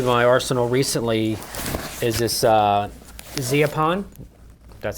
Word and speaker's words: Zeapon: Another new addition to my arsenal recently is this Zeapon, that's how you say it, slider.